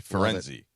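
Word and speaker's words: Firenze: You only have to say Fenzi. That's the local pronunciation."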